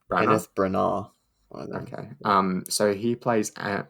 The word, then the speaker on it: Branagh: plot later on um kenneth brunell is that how you say it is it now i think it's kind of branner or kenneth branagh okay um so he